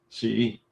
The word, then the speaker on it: Xi: Google like Xi. Google like Sheets, not Xi. All right, fair enough. Xi.